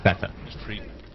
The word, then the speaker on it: Feta: His name is Feta. Yeah, A little, see, it works little great. Germanic style pronunciation. You pronounce those E's at the end.